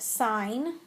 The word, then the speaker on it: sine: is the adjacent side this is pronounced sign this one is cosine